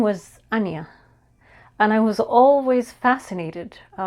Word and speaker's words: Ajna: is the spelling is a n j a but it is pronounced Anya not Anja although that is how it is spelled um funny enough I